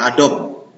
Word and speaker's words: Adobe: Bacanya Adobe, bukan Adobe.